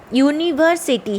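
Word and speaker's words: university: नहीं, लेकिन ये यूनिवर्सिटी है, इसका प्रोनाउंसिएशन हम देखेंगे ना कि फास्ट लेटर। ठीक है, भले ही ये यू एक वावल्स है लेकिन इस शब्द में ध्वनि य की है, इसीलिए ये कॉन्सोनेंट्स है, यानी कि व्यंजन साउंड।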